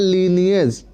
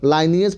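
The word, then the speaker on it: lineage: अगला हम देख रहे हैं लीनियज, लाइनियज पढ़िए, लीनियज पढ़िए, जो आपको उच्चारण अच्छा लगे, दोनों तरह से पढ़ा जाता है।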